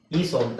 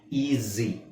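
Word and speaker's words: easy: ಮಾಡೋದು ಏನು ಈ ಐ ಈ ಸ್ವಂತ ತಾನೆ ಈಸಿ ಅಂತ ಹೇಳಲ್ಲ ಈಜಿ ಈಸಿ ಅಂದ್ರೆ ಏನ ಅರ್ಥ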